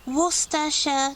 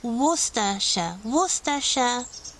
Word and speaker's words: Worcestershire: Next county, Worcestershire. This is one of those counties with quite complicated names, so you do not read all the letters here. It's not Worcester or anything like that. Worcestershire.